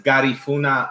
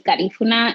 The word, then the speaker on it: Garifuna: Yeah, so my family is Garifuna. I mean, that is the way you pronounce it is definitely like Spanish way. It's also Garifuna. People have say it in with different accents in different way, but essentially we're Afro-Indigenous.